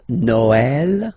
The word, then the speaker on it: Noël: The last one, tréma, well, basically it's quite rare, and the tricky thing is that in some cases you will have to pronounce it like eh, okay, like for instance Noël, okay, but then in